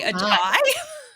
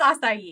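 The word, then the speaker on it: açaí: Well, I know I always say like acai bowl, but I used to say a chai. And keep in mind too, I might have like I think it's called what it's called, right? So I might be pronouncing it wrong, but I'm gonna rely on my Canadian influences. I might come up with some wacky pronunciations. I think it's acai.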